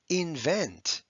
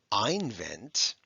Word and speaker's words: invent: followed by an s invent it's not ein vent it's a short i short i followed by an n so that d in